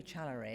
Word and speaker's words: Cala: and if you're wondering who chala is it's spelt cala and they're over there